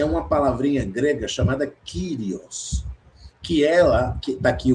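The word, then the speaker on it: κύριος: Porque senhor é uma palavrinha grega chamada kirios que ela que tá aqui o o trecho grego é essa esse pedacinho aqui cu curio. Tá vendo? Pronuncia kirios. Kirios.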